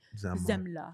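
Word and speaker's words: Semmle: But the only thing that helped me is his name's spelled with an S, but it's pronounced like with a Z. Zemla.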